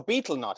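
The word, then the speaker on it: betel nut: battle nut you know be a beetle not is that how you say it okay beetle nuts and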